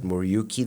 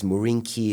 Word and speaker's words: Muriuki: It's not Muriuki the way it's supposed to be pronounced. It's Murinki, it's Maranki, it's Moronki. I don't know.